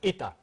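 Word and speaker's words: Eta: It's pronounced ita. It's the Greek word for E.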